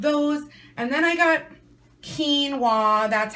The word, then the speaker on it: quinoa: get some of those and then I got Keen W that's how you pronounce it I figured it out it's called